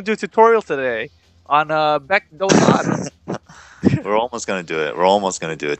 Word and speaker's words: Baek Doo San: Yeah, today we're gonna cover Baek Dotatus. That's how you pronounce it, because he's named after a famous mountain in Korea.